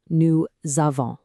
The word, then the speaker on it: nous avons: have the phrase is new zavon. Now, listen really closely to the pronunciation because this is a big one. New zavon. Did you hear that little z sound in there?